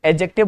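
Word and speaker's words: adjective: इसको एडजेक्टिव नहीं बोलते। एडजेक्टिव बोलते हैं। पूरी की पूरी इंग्लिश में ए और जे के बीच के डी को कभी भी प्रोनाउंस नहीं किया जाता।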